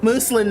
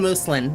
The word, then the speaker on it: muslin: Okay, muslin. Then I'm going muslin. There we go. It's like Muslim. It's a cotton fabric. Fabric of plain weave. I'm saying muslin like Muslim.